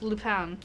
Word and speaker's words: Lupin: I believe it's Lupin. Yep. As it is a French name. It's spelled is romanized Lupin with an I. It's katakanized Lupin, the pa sound, and as you say it's French. So Lupin is probably the closest correctness for the Japanese version.